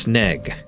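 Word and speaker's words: снег: word for snow be the Russian word for snow is it's c h e r like it it's like weird the weird symbols that look like the letters pronounced snag s n EEG pronounced sneg interesting I like learning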